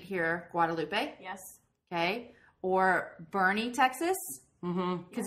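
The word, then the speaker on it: Boerne: um the street here Guadalupe yes okay or Bernie Texas mhm cuz it's spelled b b o e r n e I'm saying it right we say Bernie right we say Bernie and then um all kinds of different words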